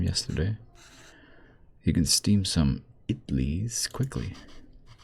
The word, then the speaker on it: idli: You can steam some idlis quickly. Actually, it's pronounced idlis.